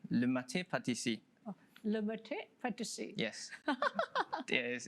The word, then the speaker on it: Le Maître Pâtisserie: It's a bit tricky, but it's pronounced Le Maître Pâtisserie. Le Maître Pâtisserie.